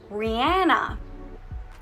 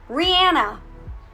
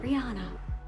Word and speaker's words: Rihanna: Rihanna is how we pronounce it. But her real name is Rihanna. Rihanna. Not Rihanna.